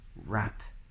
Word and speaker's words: wrap: R letter combination in words like write or rap or rec or wrestle and things like this